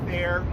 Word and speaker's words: Thayer: Can you say your full name again and then spell that out? Yeah, Thayer, last name spelled T as in Tom, H-A-Y-E-R.